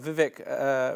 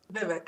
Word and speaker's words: Vivek: We're just hearing that Vivek Ramaswamy, the head of the Department of Efficiency, has just resigned, leaving Elon Musk in charge.